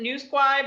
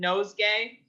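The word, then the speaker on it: Nouseguay: is that how it's pronounced uh well we pronounce it new squad but a lot of people call it nosegay uh or something i don't know how you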